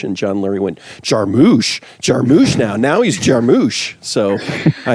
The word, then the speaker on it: Jarmusch: I made a list since I watched all these Jarmusch films.